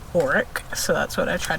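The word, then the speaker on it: orach: really nice grilled auric you've never heard of oreck or orange as some people pronounce it um i don't know what's right but i've heard botanists say it as auric so that's what i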